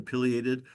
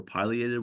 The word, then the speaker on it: pileated: the middle here is the pated or pileated woodpecker depending how you want to pronounce it but that bird um